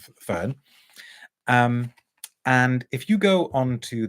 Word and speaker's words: Ffern: But the brand is, some of you have already guessed, the brand is Ffern, spelt with 2 Fs, but I'm assured that we pronounce it Ffern as opposed to Ffern.